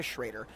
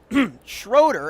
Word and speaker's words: Schrader: Championships, but their anchor, Rebecca Schrader, Schroeder, as I was alerted, she pronounces her last name differently from the school, so we're going to have to do our very darndest to nail that down.